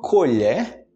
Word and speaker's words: colher: tem a colher da e muda já no final né koerner e colher é no final que muda colher e colher frutas